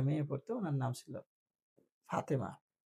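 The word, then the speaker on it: Fatima: যেমন আমাদের এখানে এর আগে একটা মেয়ে পড়তো, ওনার নাম ছিল ফাতেমা। তো এটা তো বাংলায় নাম ফাতেমা, ইংরেজিতে এটার উচ্চারণ কি হবে? It will be ফাতিমা, নট ফাতেমা।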